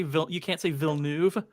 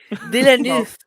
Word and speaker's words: Villeneuve: You can say And facetious, but you can't say Villeneuve. Listen, asshole. I don't know how to say words. Villeneuve. Villeneuve.